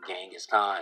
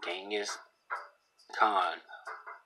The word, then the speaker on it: Genghis Khan: His name is pronounced Genghis Khan, or usually Genghis Khan, a Mongolian, Genghis Khan, and you can listen to it.